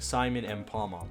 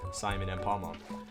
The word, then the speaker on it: Simon M. Palmom: from my name, like Simon M. Palmom. That's how you're supposed to pronounce it, by the way. Simon M. Palmom. And there's like Simon M. Palmom, 5 syllables.